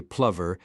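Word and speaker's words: Plover: A confirmed bachelor, he wholeheartedly adopted Angloilia, began pronouncing his name the English way, Plver, and established himself as a country squire in a massive house full of servants.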